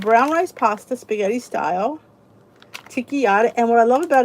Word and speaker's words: Tinkyada: So Walmart has this Ticchiata. It's spelled Tinkyada. Ticchiata.